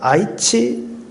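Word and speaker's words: 愛知: 한자로 뭐라 적혀있는데 나고야 아이치 그리스도 교회 이렇게 적혀 있습니다. 아이치가 이제 사랑 애자고 알지자인데 아이치라고 읽더라고요.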